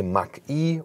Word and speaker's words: Mach: Why Mach-E, or Mach as we say in German for the pronunciation.